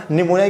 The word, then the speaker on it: निमोनिया: वो याद है ना, निमोनिया कई बार आती है आपकी क्या बोलते हैं इसमें मिसस्पेलिंग मिस्टेक के अंदर, तो याद है ना पी जो इसमें होता है साइलेंट, ठीक है।